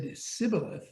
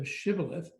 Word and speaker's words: shibboleth: such a phoneme so if anyone said sybileth instead of shivolith because he could not pronounce it they would seize him